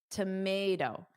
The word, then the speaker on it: tomato: Now, that tells you that you want a flap t, which is a soft d sound. So the phonetic spelling for the American pronunciation tells you to say tomato.